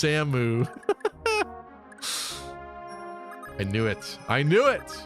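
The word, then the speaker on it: Samus: Yeah, the main character of Metroid's name is pronounced Samu.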